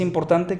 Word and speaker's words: important: Igual aquí, important, fíjate, important. La sílaba explosiva, important. Son 3 sílabas, sube, port, y luego en la schwa.